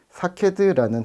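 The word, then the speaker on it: שָׁקֵד: 살구나무는 히브리어로 사케드라는 단어로 발음합니다. 이 단어와 유사한 단어가 있는데요. 사카드, 지켜보다 깨어나다라는 뜻인데요. 이 음가가 비슷한 거죠.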